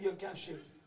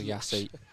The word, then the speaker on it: Yassi: Oh, I'm not sure that's how you say his name. Oh, that's a bit of a shocking pronunciation. I was going to say, we have trouble with pronunciation sometimes, but I think the PA might have had a howler there.